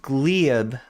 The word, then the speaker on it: Gleb: Um somebody said it is pronounced Gleb. Am I Am I saying it right now? I think I mispronounced it for uh. It's pronounced Gleb. It's one syllable.